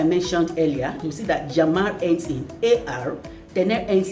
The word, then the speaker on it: llamar: Llamar, I pronounce it llamar because double L actually sounds like Y.